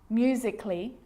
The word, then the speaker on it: musically: Now, the letter A can be silent, especially in words that end in A-L-L-Y, like these. Romantically, musically, logically. So I'm not pronouncing romantically, musically, and logically. Cut the A out. Get rid of it.